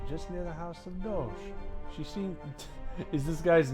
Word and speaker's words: Doge: I'm saying Doge. It's a Doge, not Dogi.